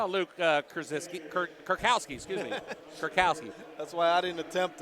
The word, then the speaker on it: Kurkowski: I'll let you pronounce that name. 44? Yeah. Oh, Luke Kurkowski, excuse me. Kurkowski.